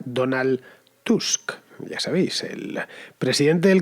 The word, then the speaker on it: Tusk: lo es desde luego se pronuncia como como lo leemos nosotros tú y el nombre sería donald tusk en polaco por ejemplo